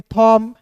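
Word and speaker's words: thumb: टी एच यू एमबी को पढ़ेंगे थॉम।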